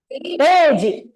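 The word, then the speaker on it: 零時: So 0 in Japanese is re. So you pronounce it as reji.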